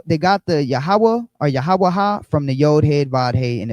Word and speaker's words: Yahawah: So, the pronunciation of Yahawah comes from the old head wide head.